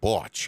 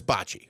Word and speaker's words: bocce: always thrown off that they would pronounce it the world series of botch is how they would say yeah yeah so I know it's Bocce I know it's Bocce